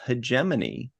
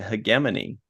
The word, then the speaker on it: hegemony: And then the final episode, episode 10, was Hegemony. Although I heard somebody pronounce it Hegemony.